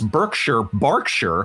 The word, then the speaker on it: Berkshire: Thank you, Breba, for informing me that the Brits pronounce Berkshire. Apologies to any I might have offended with my previous mispronunciations.